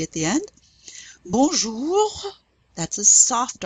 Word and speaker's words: bonjour: Bonjour. It's a dry R at the end.